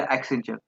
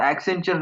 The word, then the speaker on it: Accenture: He submitted the Accenture name because it rhymed with adventure and suggested as an accent on the future.